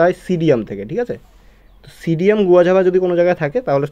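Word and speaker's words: Psidium guajava: প্রসিডিয়াম হয় না ওখানে যেরকম নিউমোনিয়ার আগে পি লেখা যায় পি লেখা থাকে পি নিউমোনিয়া এরকম থাকে ঠিক এরকম প্রসিডিয়ামে এখানে একচুয়ালি পি সিসিডিয়াম একচুয়ালি উচ্চারণটা হয় সিডিয়াম থেকে ঠিক আছে সিডিয়াম গুয়াঝাবা যদি কোন জায়গায় থাকে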